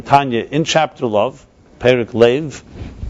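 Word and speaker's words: לֵב: Then there's a love, as he describes in Tanya, in chapter love, Perik Lev. Lev in Hebrew is pronounced love, is Lamed Bey's heart.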